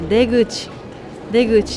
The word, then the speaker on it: 出口: 出る口と書いて出口と読みます。